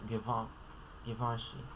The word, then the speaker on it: Givenchy: This last one, Givenchy. Man, over here the pronunciation guide says Van. Van doesn't really capture the sound very well. Givenchy.